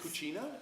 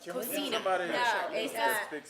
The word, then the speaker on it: cocina: Cucina? Cocina.